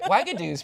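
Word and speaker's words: Uagadou: Wagadoo's pretty simple. Yeah, but Wagadoo, it's- Wagadone. Wagadoo. It sounds like Xanadu.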